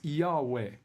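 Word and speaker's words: Jove: That Yahweh, J-O-V-E, J-O-V-E is pronounced Yahweh.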